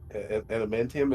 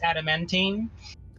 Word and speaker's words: adamantine: for some like intimate adamantium is that that's how you say it right how taller bad dementium yeah that that stuff in the game world it's adamantine adamantine hi you already said